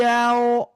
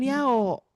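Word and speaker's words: يوم: Yau itu pengucapannya ya bibirnya dikedepankan.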